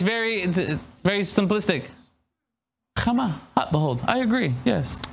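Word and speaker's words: חמה: So to kind of give you an idea, the sun is called in Hebrew Chama, which is transliterated H-A-M-M-A, Chama. All right, Chama.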